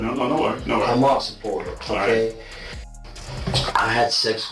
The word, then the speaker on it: Hamas: Hamas. Hamas. Yeah. Sorry, I said it wrong. No worries. Hamas supporter.